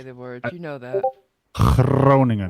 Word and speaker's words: Groningen: Groningen. When you gotta roll your R's and you gotta make weird noises with the G.